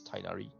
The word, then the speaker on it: Tighnari: english demo or teaser i realized that uh koli addressed him as tainari so you will go with the tiny pronunciation i'm not sure whether